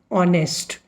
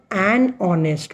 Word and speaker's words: honest: But there are a few words like honest. Spelling of honest is HONEST. But when we will use article here before honest, we will say an honest. Why? The sound of O is heard. H is silent.